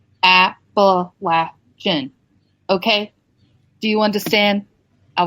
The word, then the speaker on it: Appalachian: just that's what the locals call it is Appalachian uh look it up Google it uh Google